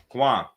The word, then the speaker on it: Kwan: Kwan, am I saying it right? How I say it? I want to make sure I say it right. Not Kwan, yeah, you said that correctly.